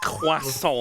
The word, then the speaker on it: croissant: and beef sausage McMuffins and a ham croissant Croissant. found in their luggage on arriving at Darwin That's like how Americans say it, isn't it? Croissant.